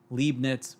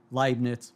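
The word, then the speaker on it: Leibniz: If I were to say uler, fermat, libnets or descartes, someone would rightly correct me and say that the pronunciations should be more like oiler, ferma, linen or decart.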